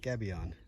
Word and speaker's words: gabion: the gabion wall here g-a-b-i-o-n gaby on pretty sure that's how you pronounce it this gavion wall has